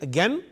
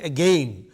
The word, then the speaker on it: again: again, some people say again, both are correct. I mean, both are used by English people. Again cannot rhyme with another word like disdain. Again rhymes with disdain, again rhymes with hen.